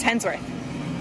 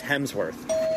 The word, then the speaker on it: Hemsworth: Universe and furiosa a Mad Max Saga Chris hensworth yeah Chris Hemsworth Chris Hemsworth oh is it Chris Hemsworth Chris